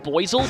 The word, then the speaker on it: Buizel: yeah, to me, that Pokemon should be pronounced Buizel, but that loses the pun.